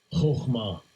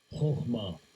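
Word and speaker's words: חכמה: Let's see how it's pronounced. Strong's H2451. Chokhmah. Chokhmah.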